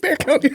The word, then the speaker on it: Bexar: I I was going to correct you and say, look, is it You mean Bexar? So, I finally did some research and they call it Bear County. Anyway. Yeah, so Mexican pronunciation.